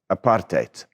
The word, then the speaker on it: apartheid: what that word means apartheid that's how you say it not height hate apartheid the last four letters of the word apartheid are a suffix like Ness in English so you have goodness